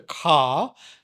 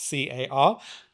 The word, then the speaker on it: ka: the energy body, the ka, Ka, not Car, Ka energy body, as the Egyptians would have called it.